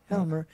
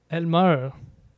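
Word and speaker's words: Aylmer: Elmer. Elmer, c'est. Ben, je le prononce peut-être mal.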